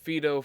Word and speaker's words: Phaedo: in a book called fedo or suppose you can pronounce it Pho I'll pronounce it fedo for this for uh for